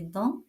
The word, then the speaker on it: dent: Eh bien, le mot dent doit se terminer par un T muet.